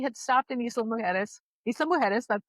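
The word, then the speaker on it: Isla Mujeres: Isa Mueris, that's how you pronounce it. The J is uh pronounced with an H.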